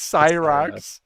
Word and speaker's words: Scyrox: Psy pronounce Psy. It's like so we have it. It's officially It's Cyrox. Cyrox.